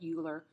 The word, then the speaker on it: Euler: is the same i know this looks like euler but it's actually pronounced euler they use e because it is